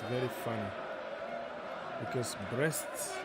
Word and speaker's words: Brest: it's very fun because breasts sounds like you're talking about some women part of the body but no that is